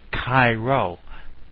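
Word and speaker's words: Chi Rho: Well, if we put these two symbols together, we'll get Cairo, and it's pronounced like the city in Egypt, Cairo.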